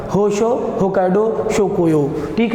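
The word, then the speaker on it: Honshu: अलग अलग लोग का अगर वो लोग बोलेंगे तो होंशु, क्योंकि उनकी भाषा ही अलग है, हम लोग इसको होंशो बोलेंगे।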